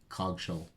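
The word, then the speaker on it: Coggeshall: pronouncing that right either it's c-o-g-g-e-s-h-a-l-l cog shell i'd say but ralph just seems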